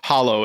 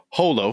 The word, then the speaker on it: holo: It's Gengar, but uh it's not hollow. It's uh holo.